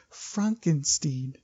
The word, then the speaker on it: Frankenstein: And so he wants to be called Frankenstein. So he's like, Frankenstein. And Igor's like, you're putting me on. And he's like, no, it's pronounced Frankenstein.